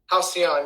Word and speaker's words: Halcyon: Halcyon, yep. Halcyon, I'm mispronouncing it.